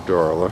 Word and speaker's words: Darla: darla there we go darla she's it rhymes with darling doesn't it can't say darling without